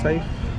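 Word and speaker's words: Saif: Safe. Safe. Uh-huh. S-A-F-E? S-A-I-F. But I pronounce it like safe.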